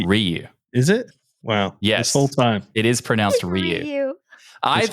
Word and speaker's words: Ryu: It's pronounced Ryu.